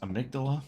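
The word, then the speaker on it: Amygdala: Willie is pronounced amydala.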